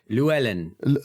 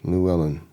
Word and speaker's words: Luellen: the rain it was Luellen Luellen Luellen that's that's probably the easiest way for you to pronounce it like Louise Ellen okay Lou Ellen Lou Ellen um and